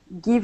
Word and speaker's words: give: Now, when we pronounce the word give, okay, we want to use the short i sound. Okay. So, instead of saying give and using the uh the Portuguese i, saying e, we want to use a short i sound and say g.